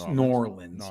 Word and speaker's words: New Orleans: have been New Orleans norleans you have to say it like nor Orleans yeah I have been